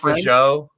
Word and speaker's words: Fajot: My last name's Joe. actually Fajot. It's pronounced for Joe.